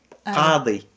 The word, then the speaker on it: Qadi: Et là, ça sort le K. Et le Q, elle est entre les deux.